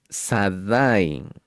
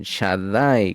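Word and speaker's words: Shaddai: todos ellos no lo no lo pronuncien sadai con pecado sino con Shadai con Shin con fuego que es metatrón que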